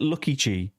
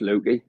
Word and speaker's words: Lukey: Is it Lucky G? Oh. You're Luke. Oh, Luke. Yeah, Lucky G. No, it's just Lukey. I think he's Lukey.